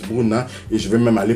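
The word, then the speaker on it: Brunner: Paris Bruna parce que la bonne prononciation c'est ça Paris Bruna et je vais même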